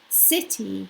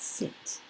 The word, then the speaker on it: city: City, not sit.